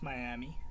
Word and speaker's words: Myamee: do it itory so I've been saying the name wrong it's Miami my bad my bad but man she talking